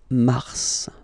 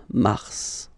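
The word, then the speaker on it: mars: it's an exception because normally final s is not pronounced in French okay we've got some exceptions and this one is one of them so mass pronounce the final s mass mass okay then Avril Avril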